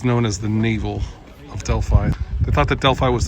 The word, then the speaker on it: Delphi: Actually, this is pronounced Delphi, not Delphi, so I was wrong.